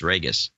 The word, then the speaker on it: Ragus: It's pronounced like Vegas, Ragus.